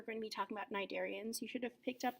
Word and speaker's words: cnidarians: first of all pronunciation the C is actually silent for this phylum it's tempting to call them cnidarians but the C is silent so it's actually just cnidarians okay and a cnidarian